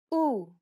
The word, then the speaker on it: ου: This double vowel is pronounced like the double O sound in the word pool. Listen to how Stefania pronounces this vowel sound. U, U, U, U.